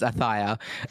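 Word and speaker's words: Ayutthaya: How do you pronounce that one, Jif? Ayuthia? Ayuthia? Yeah. We're going to work for production. It's Athia.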